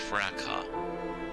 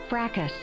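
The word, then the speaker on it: fracas: Do you think it's like Okay, here's the British pronunciation. Ready? Fracka. Fracka. Should we follow the British? I think it's the American one that sounds like fracus. That frackus. Oh, apparently frackus is also okay.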